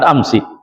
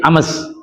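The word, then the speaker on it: أمس: Karena kalau kita pada prinsip awal harusnya sin sukun berarti ames ames ames dan itu jadi pusing lagi dengar pusing bacanya juga susah sehingga orang Arab mengkasrkan sinnya maka dibaca amsi apa alasannya mimakin hurri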